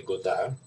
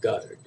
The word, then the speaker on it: Godard: My name was originally Godard, but as you would imagine, in Jones County, Georgia, that pronunciation must have lasted about 20 minutes, and they converted to pronouncing it Goddard.